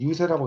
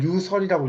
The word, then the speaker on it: 유세: 이제 이거는 유세라고 있는데 이 글자에서이 글자는 이제 원래는 말씀 설 자죠 근데 이제 달릴 세 자로 이제 익힙니다 우리가 선거 유세할 때 이걸 쓰는데 이걸 유설이라고 읽으면 안 되고요 유세라고 읽어요 이때는 음이 달라집니다 그래서 18살에는 그 과거병은이